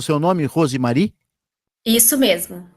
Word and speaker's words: Rosemary: Pronunciei certo o seu nome, Rosemary? Isso mesmo, pronunciou correto.